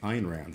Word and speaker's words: Ayn Rand: heard a video and they were like Ein Rand and I went you're saying her name and then I found that I was the one saying her name wrong but um yeah people